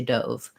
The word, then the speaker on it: dove: to be biased on if your language has letter o and it always says oh you're going to see a word like dove and want to say dove which is okay for one version of it but not for the other so kind of being